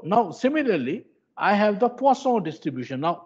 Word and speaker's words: Poisson: similarly i have the poisson distribution now many people have the habit of calling it the poison distribution but the the actual pronunciation is poisson so at the poisson